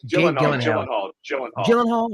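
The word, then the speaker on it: Gyllenhaal: I'm wrong um Jake G Gillan Gill I pronounce it right gyen hall is that yes I have heard that before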